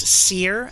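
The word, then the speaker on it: Cir: his name sorry it's it's pronounced Seer and it's spelled c-i-r okay so uh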